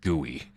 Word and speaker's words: GUI: I didn't know they they straight up just pronounced it gooey like it's like oh